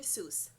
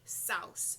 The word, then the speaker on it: Seuss: I know I know everyone says it's Dr Seuss but I remember a few maybe a couple of years ago and Jeopardy it was a question in Jeopardy and they said that the pronunciation was actually South so that's what I